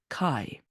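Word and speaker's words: καί: word it says Kai this is the phonetic version of the Greek word it's anglicized this is how it's pronounced Kai beneath it you see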